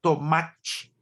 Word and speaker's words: tomate: Basicamente, o carioca pronuncia a palavra com a letra E, ele pronuncia um som de I.